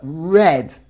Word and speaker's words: read: yesterday I okay read the past of the verb to read is pronounced exactly the same as the color right but read I read I read